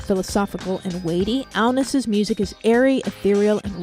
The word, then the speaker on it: Agnes: We should first say that your name is spelled Agnes, but Agnes is how it is correctly pronounced in your native Denmark.